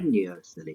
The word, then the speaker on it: spontaneously: Spontaneously. Perfect. Yeah, the emphasis is on the second syllable, spontaneously. Okay.